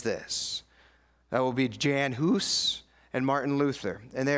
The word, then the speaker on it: Hus: looked at as John Huss but I would argue that his name is hoose it rhymes with goose and that was his